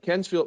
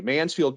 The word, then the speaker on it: Mansfield: on the service side kensfield man's or excuse me it's uh I butchered it already Mansfield Kennedale it's really south